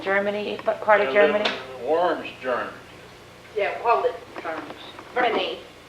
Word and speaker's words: Worms: Worms, Germany. Yeah, hold it. Germany. Is it said with a B and it's a W? Yes, it's pronounced with a V.